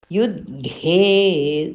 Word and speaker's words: युद्धे: Yuddhe, that fourth dha has become dhe there, so we have to be careful in pronouncing Yuddhe.